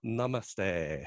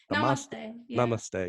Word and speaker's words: namaste: over okay and one alright yeah and the mama stay is that how you say it namaste yeah so thank you all for tuning in